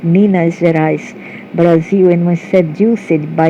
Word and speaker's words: Minas Gerais: Pronounced Minas Gerais, Brazil, and was seduced by a red-haired humanoid.